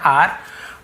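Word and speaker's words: our: ऑन आर हट roof, on यानी पर, आर यानी हमारे, ठीक है, अवर नहीं पढ़ेंगे, आर एक्चुअल प्रोनाउंसिएशन है आर, हट रूफ झोपड़ी के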